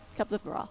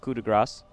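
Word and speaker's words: coup de grâce: It's kind of like how you guys pronounce cup coup de de grace grace. wrong. Yeah. Cup de gras. Coup de grace.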